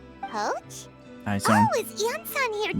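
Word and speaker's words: Iansan: Oh, is Ian-san here too? Jansen. I keep mispronouncing. her name every time. I keep forgetting the I's a Y, not a I.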